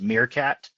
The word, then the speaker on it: Meerkat: And also the product that we designed in-house is pronounced Meerkat, like the little animal, but that's okay.